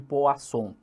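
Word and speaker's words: Poisson: dentro da distribuição de Poa som é isso mesmo escreve-se poiss som só que a pronúncia é POA som bacana e a questão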